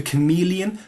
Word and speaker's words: Chamaeleon: The chameleon, which I'm sure most of us would agree would be better if it were pronounced Chamalon, but Chameleon is the uh standard pronunciation.